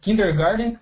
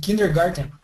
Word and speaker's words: kindergarten: found two words here kindergarten and kindergarten yeah the actual spelling is with a t but the pronunciation in America is usually with a d kindergarten so the the D